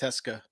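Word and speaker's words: Tecza: Alex Texa, how do you say that? I think it's Teska.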